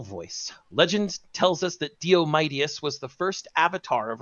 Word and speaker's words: Diomedes: Well, that's because if you didn't, you'd pronounce it Diomedes or Diomedes. Yeah, but it's Diomedes.